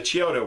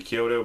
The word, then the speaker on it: Chiodo: well they were the Chiodo brothers I hope I'm pronouncing that right and maybe Kyoto but i think it's Chiodo brothers anyways they did a